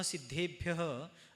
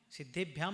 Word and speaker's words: सिद्धेभ्यः: सिद्धेभ्याम नहीं सिद्धेभ्य शुद्ध उच्चारण।